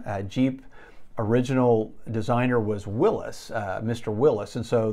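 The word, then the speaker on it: Willys: and so a lot of people call him willie's uh actually that's the wrong pronunciation uh jeep original designer was willis uh mr willis and so the original jeeps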